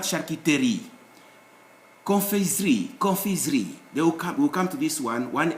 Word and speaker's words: confiserie: Confiserie, confiserie. We'll come to this one S between two vowels will always produce Z sound in French, not S.